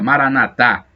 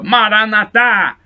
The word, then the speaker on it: maranata: se pronuncia assim maranata expressão católica maranatha os protestantes falam maranata as nós falamos com a tônica na última sílaba maranata são paulo apóstolo foi